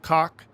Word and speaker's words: Kach: It's spelled K-A-C-H, so I'm going to assume it's pronounced Kach.